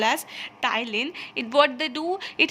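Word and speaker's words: ptyalin: called platine sorry thylin which means here p is silent so this enzyme amylase so it is called as tylene and what they do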